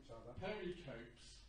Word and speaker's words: pericope: but for 30 years I've been talking about pericopes, which are those, which are those little sort of nuggets of the story. And you said it's pericope, so I think you're probably right.